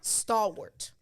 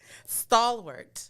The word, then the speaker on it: stalwart: will the r word stalwart stalwart it's spelled w-a-r-t but it's pronounced ort like sport right um so if